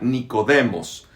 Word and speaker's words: Nicodemos: Nicodemo es un nombre griego, se pronuncia Nicodemos, que no era raro